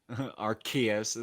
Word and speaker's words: Arceus: they do the nintendo directs have said said it with the hard c okay okay what about